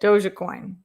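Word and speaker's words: Dogecoin: right kenny says pronounce dog coin dojo coin like doja cat but doji coin maybe unless i'm still mispronouncing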